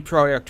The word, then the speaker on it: Projekt: And yes, it's pronounced Projekt because that's how you pronounce project in Polish, and it's spelled in Polish.